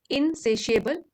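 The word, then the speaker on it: insatiable: हो कोई इच्छा हो इन सेशिएबल जो कभी संतुष्ट ना हो पाए यह भी यहां पर एडजेक्टिव है है यहां पे टी आया है लेकिन इसको प्रोनाउंस कैसे कर रहे हैं इन सेशिएबल सेशिएबल असंतुष्ट नेक्स्ट वर्ड है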